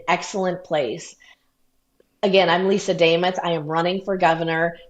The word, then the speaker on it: Demuth: But before we let you go, Lisa Lisa Damoth rhymes with name.